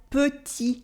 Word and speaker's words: petit: In French, this letter is called because this is what it sounds like in words like petit, with its silent T at the end for small.